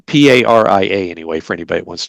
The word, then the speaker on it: Paria: I know it's not pariah because I always want to say pariah, but that's wrong, and it's not paria, which is not Spanish language.